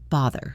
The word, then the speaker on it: bother: The pronunciation of bother has a voiced th sound like mother or father. Bother.